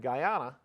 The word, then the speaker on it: Guyana: The Ghana mission we're talking about, or Guyana, I always mispronounce it. Guyana is located in northern and southern South America, so it's right next to Venezuela.